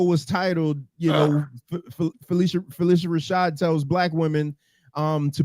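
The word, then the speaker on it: Phylicia Rashad: What I've been saying Felicia Rashad.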